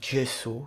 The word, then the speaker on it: gesso: Et de même pour les prénoms italiens comme Giovanni qui s'écrivent avec un G mais se prononcent DG. C'est ce qui explique par exemple qu'on dit gesso qui est un enduit à base de plâtre.